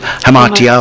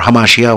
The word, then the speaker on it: hamartia: Yes, Aristotle, when he uses the word hamartia, in English we sometimes, you know, pronounce it hamartia or hamartia, whatever.